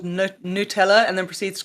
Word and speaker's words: Nutella: Everybody, I fighting over the pronunciation of fucking Nutella, Nutella. Goddamn, you know what we're talking about, fuckers. It's Nutella.